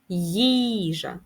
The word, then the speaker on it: їжа: Їжа наголос на перший склад.